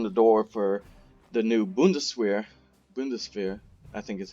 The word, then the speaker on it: Bundeswehr: But like I said, this does open the door for the new Bundeswehr, I think is how it's pronounced, which was the new German army after the fall of the Third Reich.